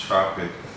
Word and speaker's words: Trpk: time trpk the artist Tropic is pronounced Tropic I see Tropic chocolate